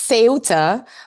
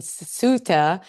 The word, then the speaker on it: Ceuta: So how do they pronounce it there? say it's seota but I know that the English are saying suta and the American are saying septa so you have all kind of pronunciation